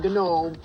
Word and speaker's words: gnome: The G in gnome is silent. It's gnome, okay?